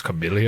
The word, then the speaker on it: chameleon: It's chameleon. It's pronounced chameleon.